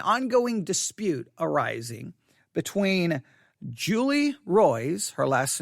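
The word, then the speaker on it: Roys: has been an ongoing dispute arising between julie roy's her last name is spelled r-o-y-s julie roy's and the ministry of john macarthur all right there's a julie royce that keeps releasing and publishing these investigative reports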